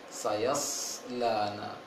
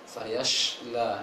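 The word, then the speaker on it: سيصلى: Sayaslana. Jangan terbaca sayashla, itu baca shin jadinya. Seharusnya baca shad itu ada sin yang ditebalkan.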